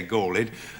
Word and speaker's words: galled: You have to say galled if the line is going to scan properly.